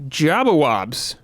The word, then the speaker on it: Jabbawabs: But we got Jabbawabs. Sorry, that's how you say it. Wabs.